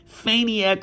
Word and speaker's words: Faniac: Faniac rhymes with maniac.